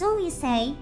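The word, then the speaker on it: 水星: By the way, in Japanese, the word for Mercury is pronounced Suisei, which is also the pronunciation for comet.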